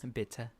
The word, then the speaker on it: bitte: Bitte. Bitte. Par favor. Por It's like favor. saying bitter, but with an accent. Bitte. Bitte. Bitte. Un cappuccino, bitte. I don't drink cappuccinos. Un cap bitte.